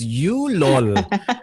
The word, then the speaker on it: YouLol: Ang pronunciation nito is YouLol.